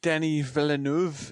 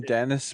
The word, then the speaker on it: Denis Villeneuve: He is one of the few Oh, Denny Villanuv is is actually how you pronounce his name. I used to call him Dennis, but it's he's a French Canadian.